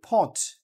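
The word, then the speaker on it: thought: কিন্তু উচ্চারিত হচ্ছে না ডট সো এরপরে কি থট এই যে টি ও ইউ জি এইচটি থট এটা কিন্তু লিখা স আপনাকে লিখতে হবে এইযে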